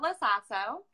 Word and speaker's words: LoSasso: Is it LoSasso? Okay. A little sass.